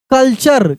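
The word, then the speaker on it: culture: पिक्चर सी यू एल टी यू आर ई कल्चर क्या पढ़ेंगे कल्चर चक्र रूप में पढ़ना है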